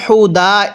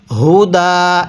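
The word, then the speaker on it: هدى: কিভাবে পড়ব ওয়া বাইনাতিম তামিমের তিম এরপরে মিনাল হুদা এই হাটা উচ্চারণের সময় গলার মধ্যে এক প্রকার আওয়াজ পড়তে হবে। অনেকেই মিনাল হুদা এরকম ভাবে পড়ি।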